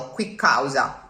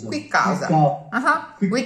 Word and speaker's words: qui causa: was one word with a double consonant in the middle. Quick causa. Okay? Quick causa. Which is why I think it's visually convenient for you to mark it at the end of the preceding syllable. Qui causa di scherno. So it's not a pause, it's rather a more perceivable bump in the road, a more perceivable not on the line.